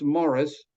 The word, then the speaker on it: Maurice: And then there was a man named Thomas Morris, spelled Maurice, but pronounced in England, anglicized in England or Englished as Morris, Thomas Morris, and George Stanley Faber.